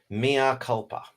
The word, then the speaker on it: mea culpa: Pronounced mea culpa. Ah, mea culpa.